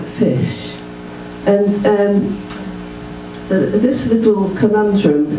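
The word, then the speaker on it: ghoti: invasion is pronounced then the word g-h-o-t-i is pronounced like fish and um this little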